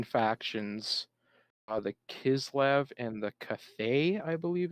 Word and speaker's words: Cathay: They're going to be there's going to be two human factions, the Kislev and the Cathay, I believe it's pronounced, and they kind of resemble like Russia and like China.